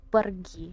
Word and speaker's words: pergi: And by the way, how to pronounce it is pergi. You have to roll your R.